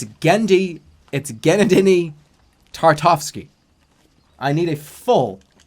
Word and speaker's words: Genndy: Gennady Tartovsky. Take down the goddamn poster. Missing a fucking goddamn millennial. Hey, go find the goddamn millennial. Go find that Waterbury millennial. He's somewhere. Granadini. You pronounced his name so incorrectly.